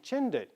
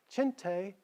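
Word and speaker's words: Chinthe: like he was saying chin did he like what it represented powerful he named his Special Forces the Chindits even after he heard the correct pronunciation chin tay he still kept the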